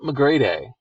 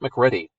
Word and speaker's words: McGrady: i love him anyway scott mcgrady who i would have pronounced scott mcready if he had not written to me to give me pronunciation so if you ever